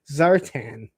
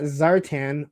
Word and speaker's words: Zartan: Uh B is Battleground saying just make sure you pronounce Zartan as Zartan and not Zartan or people will cry. See, you spelled it right every time. I think it's Zertin, right?